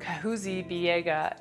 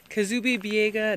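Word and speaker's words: Kahuzi-Biega: with the crew and we drove out to kahuzi biega national park i said it wrong in the video are you excited to see the gorillas i'm super pumped so we're here in kazubi biega national park and we're going to be going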